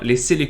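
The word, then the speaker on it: Cœlacanthes: comores les fameux seller quand j'ai dû chercher la prononciation sur fort beau mais c'est bien les scellés quand le surnom qu'on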